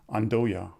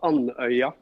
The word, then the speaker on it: Andøya: a new spaceport in Andoya. Do I pronounce Andoya right? It's close. It's called Andøya. So you have an sound.